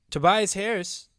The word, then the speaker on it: Tobias Harris: Tobias Harris. Did I say his name right? Yeah. Yes, you did.